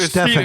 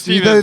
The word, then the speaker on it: Stephen: butchered Stefan. It was Steven.